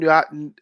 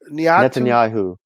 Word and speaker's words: Netanyahu: Niatu? Netanyahu.